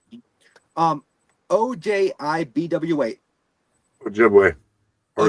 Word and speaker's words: Ojibwe: Ojibwe. Or Ojibwe. Okay, so I was right. Yep. I just didn't want to mispronounce it and be like, I'm an idiot.